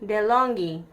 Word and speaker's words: DeLonghi: So if you rate the how do you pronounce this? Which one? Americano? Oh, This one. DeLonghi. DeLonghi.